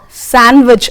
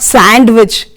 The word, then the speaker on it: sandwich: So, next time when you go to any shop, you will say, you will ask for sandwich and not sandwich.